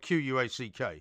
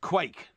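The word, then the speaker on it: quaich: c h oh so it's not actually spelled q-u-a-c-k it's it's phonetically pronounced and tell me it was spelled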